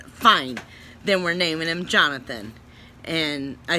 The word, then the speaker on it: Johnathon: way Jo HN athon because I wanted to be pronounced Jonathan people can spell it